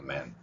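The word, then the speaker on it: man: 다른게 하나 있다고 그랬어요 맨 맨이 발음은 먼 발음에 더 가깝습니다 실제로 막 짧은 발음으로 되는 경우가 약한 발음이 있는데 특히 문장 속에서 먼 발음 먼 그래서이 발음은 좀 n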